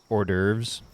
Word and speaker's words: hors d'oeuvres: So like hors d'oeuvres, it actually has an H at the beginning of it. They don't pronounce the H.